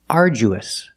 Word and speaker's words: arduous: The pronunciation is arduous. Arduous. And it means very hard. Arduous. The du makes the J sound like jump and juice. Aru. We use a long oo like food and boot.